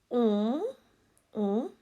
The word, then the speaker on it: on: K, L, O, R, K, on, not on, on. It's like a nasal sound. On. You should hear it from your nose. Your nose should be vibrating when you say it.